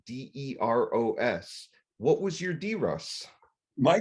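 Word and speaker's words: DEROS: mark and students you won't know this phrase it's spelled d-e-r-o-s what was your d-ross my d-rose was april 3rd of 1969.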